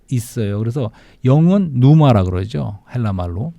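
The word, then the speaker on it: πνεῦμα: 그래서 영은 누마라 그러죠. 헬라 말로. 네. 뉴마. 예. 피우마라고 하지 않고 누마라고 푸마. 발음한 거예요. 그 처음에 피가 묵음입니다. 묵음.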